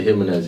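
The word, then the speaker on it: Jiménez: Jimenez. That's it. That's how you pronounce it.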